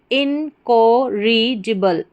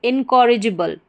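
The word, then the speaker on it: incorrigible: जी, और फिर बी एल ई बल, जिबल, इनकोरिजिबल, इनकॉरिजिबल, इनकॉरिजिबल, ये हमारी पूरी स्पेलिंग बन गई इनकॉरिजिबल, इनकॉरिजिबल।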